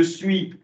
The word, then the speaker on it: suis: Je suis, alors suis, effectivement, il pose problème parce que le dernier S ne se prononce pas.